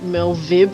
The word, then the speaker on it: Merlwyb: I know it's supposed to be like Melvib or something, but I can't say that.